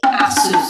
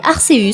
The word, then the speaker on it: Arceus: Comme le C est suivi d'un E, on devrait normalement prononcer ce mais en français, les lettres E et U non accentué se prononcent E. Donc si l'on suit une prononciation purement française, on se retrouve avec Arceus.